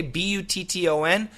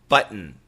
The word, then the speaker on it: button: Okay, B-U-T-T-O-N, button, button. So we usually use a glottal stop. We don't say button. Button is perfect, but we usually say button, button. And it's an N sound, button.